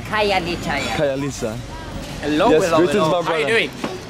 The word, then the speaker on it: Khayelitsha: Well, thank you for helping me pronounce it. Khayelitsha. Khayelitsha, yeah.